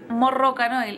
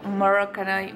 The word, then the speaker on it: Moroccanoil: pero es como que se pronunciaba r pero no es morrocan era Como morocan morocan así como distinto y